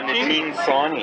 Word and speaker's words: Nitin Sawhney: You've got the one by Nitin Sawhney, is that how you pronounce that? Oh yeah, Nitin Sawhney.